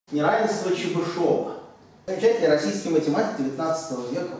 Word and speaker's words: Чебышёв: Неравенство Чебышева. Замечательный российский математик 19 века. Вот правильно, вроде бы, все-таки его произносить именно Чебышев, а не Чебышев, как многие делают.